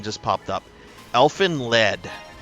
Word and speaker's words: Elfen Lied: Elfen Le or Elfen lied. It's got a German pronunciation to it.